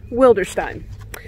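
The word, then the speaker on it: Wilderstein: works of his is will der Stein yes that's pronounced Stein not Steen now this home is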